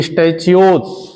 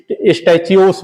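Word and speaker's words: stachyose: स्टैचियोन्स, ओन्स कोई जो है प्रोनाउंसिएशन करता है, कोई स्टैचियोस बोलता है, ठीक है, कोई दिक्कत नहीं।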